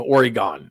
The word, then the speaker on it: Oregon: passed out stickers that pronounced this Oregon correctly Oregon because a lot of people called it uh what was it Oregon or or no Oregon that's what they called it Oregon Joey's from the